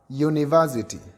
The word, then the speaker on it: university: It is very wrong to say an university, because university, U is pronounced as U. And therefore, when it is pronounced as U, automatically it becomes a consonant.